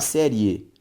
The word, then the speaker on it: série: ó necesário ao separar série série ao separar bactéria teria veja que a sílaba tônica dessas três palavras é sempre a penúltima logo todas elas são palavras paroxítonas só que gente se